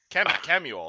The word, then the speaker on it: Kemuel: Kemmel. Kemuel. Kemuel, that's how I pronounce it.